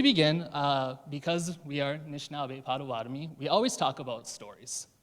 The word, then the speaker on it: Potawatomi: To give you a little background, Pottawatomie, which is a French spelling of the word, it's traditionally pronounced Pottawatomie.